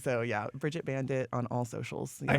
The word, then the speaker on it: Bandit: There's a D in Bandit. So yeah, Brigitte Bandit on all socials.